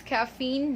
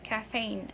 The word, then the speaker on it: caffeine: Okay, so this is caffeine, not caffeine.